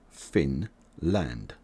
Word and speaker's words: Finland: its borders Norway Russia and Sweden and you pronounce Finland like this Finn land Finn land Finland subscribe for more videos from